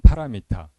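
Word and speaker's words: पारमिता: 평전의 제목에서 마하는 범으로도 그대로 마하로 발음이 됩니다. 반야는 플라즈냐 바람일단은 파라미타 그러니까 그 범의 발음을 가장 유사한 한자를 찾아 가지고 비슷하게 적은 거죠.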